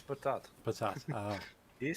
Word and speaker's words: patat: No, it's patat.